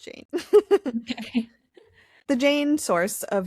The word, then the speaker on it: Jain: Rhymes with, or like rain. But Mhm. Jane. Mhm. And I did look it up. It is pronounced Jain.